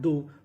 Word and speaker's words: though: THOUGH, यहाँ पे उच्चारण करना है दो।